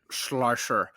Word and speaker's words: Schleicher: Say it like Sean Connery would say it. Schleicher.